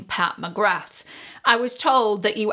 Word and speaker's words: Pat McGrath: pronounce her name well she pronounces her name pat mcgrath the th you hear so uh i'm now